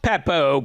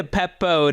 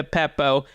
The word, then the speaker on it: Beppo: We're here to talk Peppo, Bucca di Beppo to be precise. None of that Peppo nonsense. No, it's Bucca di Beppo.